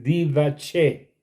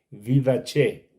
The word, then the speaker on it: didaché: de la iglesia el didaché didaché se escribe como suena que son los hechos